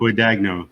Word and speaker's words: Guadagno: Guadagno, you got it right.